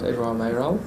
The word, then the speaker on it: Edouard Mayoral: Did I pronounce it correctly? That's right, Edouard Mayoral.